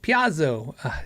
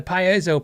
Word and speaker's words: piezo: What he means is the Piazzo. Dude, it's so nuts. The Piezo pickup.